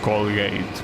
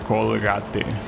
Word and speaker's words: Colgate: but I think that in English it's pronounced Colgate. Well, wasabi will know. Like I think it's pronounced Colgate. I mean, it would be weird if it wasn't pronounced Colgate cuz why would it be? It is. Okay. Yeah. So, yeah, I'm talking about that one. Here, as I say, we we pronounce it colate, right?